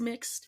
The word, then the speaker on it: Mx: and I asked them just for verification, like, hey, is MX pronounced mix or Ms with a Z pronunciation? And they said, no, it's mixed. It's mixed.